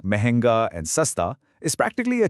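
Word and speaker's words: महंगा: If something costs an arm and a leg, it's expensive, or mahenga. Mahenga. Did you catch that slight nasal sound in the middle? Give it a go. Mahenga.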